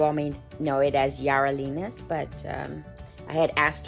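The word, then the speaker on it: Yarelina's: it properly but um having that her background the y has a j sound so it's jarelina's reborn nursery and her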